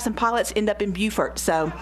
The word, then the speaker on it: Beaufort: It's spelled the same, and I'm Southern, and it blew my mind. So it is Beaufort, North Carolina, and we still laugh because we